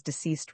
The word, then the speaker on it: deceased: the names of his deceased relatives. The medium, like many others, incorrectly pronounced the term deceased, the same as diseased, sounding the S like zed.